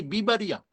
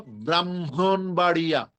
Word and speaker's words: ব্রাহ্মণবাড়িয়া: এখন এটা উচ্চারণ করতে পারি না, দেখে সংক্ষেপ করে বলি কি, বিবাড়িয়া। বলো, ব্রাহ্মণবাড়িয়া।